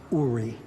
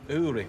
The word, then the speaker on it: Uri: It's pronounced Uri.